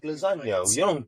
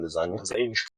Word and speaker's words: lasagna: Yeah, like lasagna. You don't pronounce the G in lasagna.